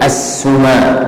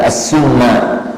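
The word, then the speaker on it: السُّمَانَى: Bitakhfifil mim wal qasr, bacanya itu mimnya ditakhfif, enggak ditasydid. Ini as-suma gitu ya, bukan as-summa.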